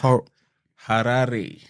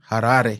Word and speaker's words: Harare: Yeah, so it's Harare. Harare. Yeah, that's Harare. That's how you pronounce it properly. That's how I pronounce it from my Shona accent.